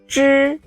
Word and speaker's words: zhi: zhi. The front of your tongue initially touches the hard palate.